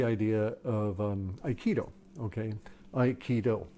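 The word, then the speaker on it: Aikido: of um iido okay iido it's a martial art iido okay three syllables uh do meaning way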